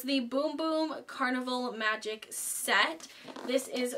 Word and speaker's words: Bum Bum: Sol de Janeiro I heard that it's actually pronounced boom cream not bum bum cream so it's the boom boom carnival magic set this is what the box